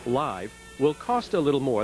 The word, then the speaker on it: LiV: sale within a month Long Island Vodka it's pronounced live will cost a little more than most other